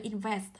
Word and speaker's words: invest: Vậy cô sẽ đọc tới là invest. Kết thúc bằng ST, hai phụ âm đứng cạnh nhau trọng âm dâm tiết thứ hai.